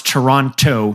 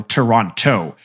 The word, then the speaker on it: Toronto: I have heard that only nerds pronounce Toronto Toronto and that real hip gangster say Toronto without the on the second te can anybody confirm